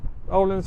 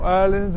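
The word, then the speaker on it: Öhlins: sports bike which is quite woring fully adjustable Orland Forks fully adjustable Orland R shock or earland as it's technically pronounced Brembo brakes acrapovic cast Wheels T they're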